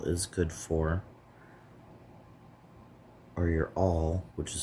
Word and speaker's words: awl: All right, so we have our last few inches of our paper stem here.